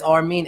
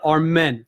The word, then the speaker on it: R-Mean: don't blame it but it's our mean it's spelled 8 RM I n my real name okay so it's not our men it's not our men at all okay so ladies and